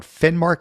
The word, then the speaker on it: Finnmark: I think it's called Finnmark. Is that how you pronounce it? Yeah, that's right. Finnmark.